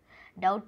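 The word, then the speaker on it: doubt: डाउट, अरे भाई डाउट, डाउट में तो बी हमारा साइलेंट वर्ड है।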